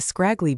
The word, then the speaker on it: scraggly: S K R A G rhyming with bag and Lee rhyming with tree.